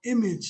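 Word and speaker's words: EMAG: away from coppin state the facility is called image center that's spelled e-m-a-g center that acronym means entrepreneurs making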